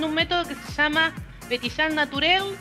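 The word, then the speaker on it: Pétillant Naturel: Petillán, ¿cómo se pronuncia? Petillán Naturel, que Petillán significa naturalmente.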